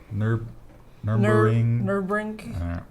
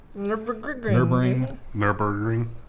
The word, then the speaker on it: Nürburgring: Can you pronounce it? No. Nürburgring. Nürburgring.